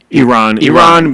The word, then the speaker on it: Iran: different countries cuz like Iran uh do you pronounce that Iran or Iran? Iran.